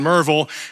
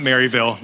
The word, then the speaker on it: Merville: time, First Baptist in Merville. And they wanted to have me come. And then that is how you say it, not Maryville, it's Merville.